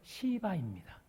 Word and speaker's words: 시바: 그 사람은 시바입니다. 이게 발음을 잘해야 돼요. 좀 발음이 세면 이게 욕처럼 들리거든요.